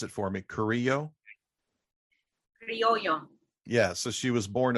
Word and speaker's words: criollo: She was, pronounce it for me, Criollo? Criollo.